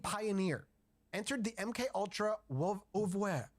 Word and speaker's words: oeuvre: Harold Abramson, an LSD pioneer, entered the MK Ultra oeuvre. How do you say that word? Oeuvre? Oeuvre. Oeuvre. It's a French word. It's like oeuvre.